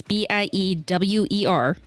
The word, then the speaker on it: Biewer: Okay, so most people pronounce it beaver. It's Biewer. It's German, so it's more of a beaver sound, but you know.